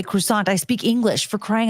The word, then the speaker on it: croissant: Okay, that right the I have to pronounce as it's spelled croissant. I'm going to say croissant.